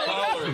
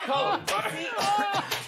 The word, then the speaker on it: collard: Collard, like collard. Not colored. It's C-O.